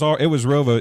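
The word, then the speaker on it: ROWVA: I know where it's part of Rova. It is. It's part of. We're sports people here, Yeah. Bill. We have to know who I graduated Oneida from is. Rova. Did you? So it was Rova even that far back.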